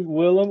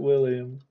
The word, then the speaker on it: Willem: How do you spell that again? I don't think it's... Let me Google. Is it actually Willem or is it William?